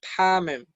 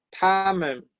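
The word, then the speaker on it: 他们: Fíjense que ellos y ellas se pronuncia igual. Se pronuncia tamen, tamen.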